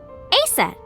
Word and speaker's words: Isis: Horace's mom is named Isis, but in ancient Egyptian, it's pronounced closer to Ise or Aset.